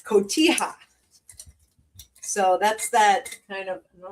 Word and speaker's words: Cotija: It's Cotija.